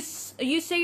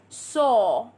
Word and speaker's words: saw: Saw. I saw. See, in American English, people pronounce it like sa. But we're gonna say it like saw.